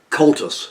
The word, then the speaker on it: Comhaltas: Comhaltas. Comhaltas. Comhaltas. Like like a little horse, colt, us. Okay. And it's got two more words with it, but most people just say Comhaltas.